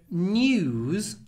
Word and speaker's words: news: what's interesting here so news and newspaper in news the S is pronounced Z so you get new